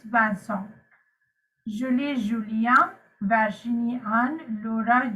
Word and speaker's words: Vincent: julie julian virgini anne it's not bandsaw this is not vincent right it's banson julie julia vargini and